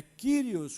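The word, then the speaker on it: κύριος: do do do hebraico no Grego é kirios com o i francês é um I entre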